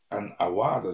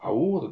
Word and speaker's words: award: アワードじゃないですよ。発音はアウォードですよ。